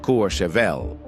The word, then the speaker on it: Courchevel: Which brings us to the second most private neighborhood on Earth, Courchevel, 1850, France, pronounced Courchevel.